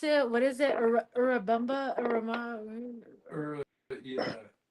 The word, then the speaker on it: Urubamba: I mispronounce it. What is it? Urubamba? Yeah. Urumba?